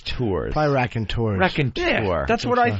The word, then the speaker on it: Raconteurs: night with Jack White's brand new band, the Raconteurs. Raconteurs. How do you spell the last part of it? EURS. I believe it's tours. Probably Raconteurs.